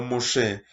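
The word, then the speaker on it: משה: no sé qué es moisés en nuestro idioma moises que se dice así pero en hebreo muse se escribe con una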